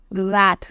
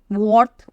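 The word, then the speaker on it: wrath: है आपका रथ okay it इज रथ नॉट वर्थ और एनीथिंग आपका डब्लू यहां पर साइलेंट रहता है एंड वी कॉल इट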